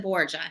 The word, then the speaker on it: Borja: your last name oh we pronounce it Bor it's probably Bor but my husband's family calls I wondered no where's